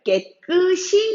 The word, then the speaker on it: 깨끗이: 깨끝이 쉬는 야애 차인데 실제 생활에서는 백금 신기하고 발음 하는 사람들보다는 깨끝이 이라고 발음을 하는 사람들이 많죠 그런데 이 깨끝이 라고 발음하는 게 틀렸읍니다 깨끝이 가 아니라 다름은 께 그 싱 이라고 해서 2시 옷에 그대의 올려서 바른 외 패 주셔야 합니다 이렇게 초 너 획득 히이 아니라 깨끗 이 라고 표기를 해야 한다는거